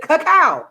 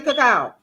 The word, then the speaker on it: cacao: me some old avocados i don't pronounce it coco a flower flower i pronounce it cacao i like to say cacao i've been calling this stuff cacao for years i'm not gonna i'm